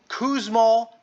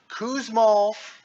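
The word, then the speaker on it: Kussmaul: to say it I don't know how to spell it so I'm looking it up right now starts to the K it's called kousol respirations that is write this down k u SS m a u l kousal respirations those are fast and deep fast and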